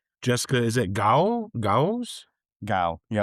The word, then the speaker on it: Gao: Gao. Yep. Gao, okay.